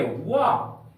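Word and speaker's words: walk: जैसे हम लोग लेते हैं डब्ल्यू ए एल के, वाह। यहां पर के पहले एल का प्रयोग किया गया है, इसलिए इस एल का उच्चारण नहीं करेंगे।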